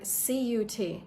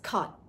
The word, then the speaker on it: cut: So, for example, the word cu T. Now, in American English, it's cut. you're not going to pronounce the T.